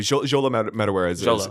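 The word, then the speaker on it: Xolo Maridueña: Joel Metawarez is how you say his name.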